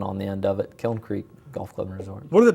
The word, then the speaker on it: Kiln Creek: word kiln, whatever yeah we've heard it several different ways but it's it's Kiln Creek just like if you say kill and then throw a little in on the end of it, Kiln Creek Golf Club.